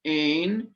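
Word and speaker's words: ἦν: Hutos, this one, it means, hutos ein en arche pros ton theon. And did you notice the difference in pronunciation between ein and en, eta and epsilon?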